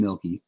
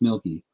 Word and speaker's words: Mielke: As far as the name, that's one that we get pretty frequently, and my name is Milky, for the record. And so my last name is pronounced Milky.